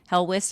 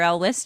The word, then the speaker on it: Helwys: So early 17th century, co-founder of the Baptist movement, Thomas Helwys or Elwys, depending on how you pronounce it.